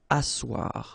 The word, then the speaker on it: asseoir: Asseoir, remember double S here, it's really strong s, really strong S, okay, so asseoir.